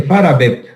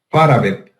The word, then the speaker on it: Farabeuf: Estos que vienen en forma de C, que vienen por pares, se conoce con el nombre de, se escribe Farabeuf, pero se dice Farabep. Farabep.